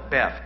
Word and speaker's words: Beth: It's spelled Beth, B-E-T-H, but the H is silent.